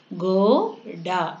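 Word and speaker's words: घोड़ा: கோ டா. டா டிஏ டா. இந்த டா வரும்போது சாஃப்டாக ப்ரொனவுன்ஸ் பண்ணுவோம்.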